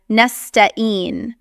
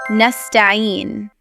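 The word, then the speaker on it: نستعين: Here again, the most common issue is the letter ayn, which is either replaced with hamza or skipped altogether. So some people will pronounce it as nasta'een, or skipping the ayn and reciting it as nasta'een.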